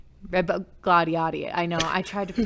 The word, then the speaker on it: Rebagliati: I'm not even going to try to pronounce his last name. It's Rebagliati. Rebagliati.